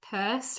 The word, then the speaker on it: Peirce: I'm here to do the reading of the CS purse reading. Um that is pur pronounced like a purse, not pierce, even though it looks like pierce.